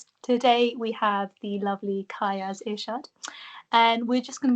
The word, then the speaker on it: Kayas: A lot of people can't pronounce my name. Oh, really, what do they? No, because they're like. Is it Keyas, Kayas or is it K?